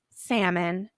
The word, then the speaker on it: salmon: our last column calm salmon and poem in these words you hear mmm at the end of words but you don't hear the L so you're going to